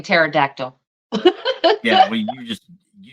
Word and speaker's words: pterodactyl: yes I was saying pterodactyl yeah well you just you just want to talk about the silent be that's a silent P yes yeah uh Roger